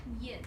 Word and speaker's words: 燕: It's a kind of bird, and it's pronounced yin. Yin.